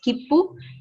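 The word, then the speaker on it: 切符: So that pu we have written having the maru. So it is having a maru. It is not a ten, it is a maru. So when you want P pronunciations, it should be a maru. When you want B pronunciations, it should be a ten in Ha series.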